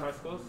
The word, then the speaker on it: Hyksos: Yeah, I would say Hyksos. I don't know. I've always heard high schools. Yeah, I always heard it high schools. Like with KSI. That's the way I've always heard it pronounced.